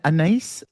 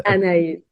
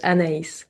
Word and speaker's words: Anaïs: I, is it an anise? I always get this name wrong because I know there's a fragrance, isn't there? It's Anaïs. An You pronounce all the letters, Anaïs.